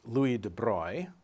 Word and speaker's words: Louis de Broglie: In his 1924 PhD thesis, Louis de Broglie, and that's a strange pronunciation for an English speaker, it's a French pronunciation of that spelling, but that's the guy's name, made a deceptively simple proposal.